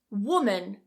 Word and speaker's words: woman: Don't confuse women with woman. Wo, wi. So notice those 2 vowels at the beginning are different. So the plural. Women, women, singular. Woman, woman.